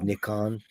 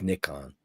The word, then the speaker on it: Nikon: Do you know the right way to say Nikon is Nikon? I didn't know that. Just think about it. It's Nikon.